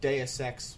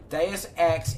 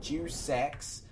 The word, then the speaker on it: Deus Ex: Deus Ex is the first Deus Ex. I know it's not spelled Juice Ex. He's googling it now and he pronounced it Juice Ex.